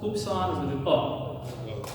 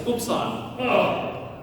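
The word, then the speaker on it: upsilon: Now we're going to go with the short pronunciation on this is the most frequent put oops on like right. So hoops on.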